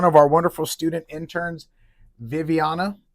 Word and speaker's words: Vivianna: But today, I'm here with one of our wonderful student interns, Viviana, right? Yes. And that's how you pronounce it, right?